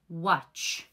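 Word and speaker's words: watch: همین در همین آواز یکم حرف حرف ت خاموش هسته شما فقط نوشتن استفاده میبرین لکن وقتی خواندنده شما این تلفظ نمی‌کنین کدوم کلمه‌ها ما ای را استفاده میبرین مثلا بگم که واچ واچ واچ میشوه همین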